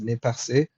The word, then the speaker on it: Nez Percé: The nez percé, or the nez perce, I'm not sure how Americans would pronounce that, but it's supposed to be pronounced nez percé, which means pierced nose.